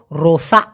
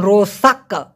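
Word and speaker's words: rosak: থাকে একটা এরকম যেমন রোসাক্কা এভাবে না বলে কটা খুব ছোট করে উচ্চারণ করে এজন্য রোসা শোনা যায়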